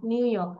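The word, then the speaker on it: New York: নো you need ইয়ক নিউইয়র্ক নিউইয়র্ক আর এর উচ্চারণ করে না নিউইয়র্ক নিউইয়র্ক ওকে উচ্চারণটা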